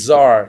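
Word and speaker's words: Tsar: gram you got it and Zar is spelled TS a r I'm taking the time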